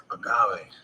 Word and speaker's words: agave: How you pronounce that? Agave.